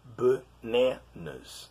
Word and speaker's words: bananas: word bananas okay um the first and the last syllable of the word is the are pronounced like schwa okay bat nests that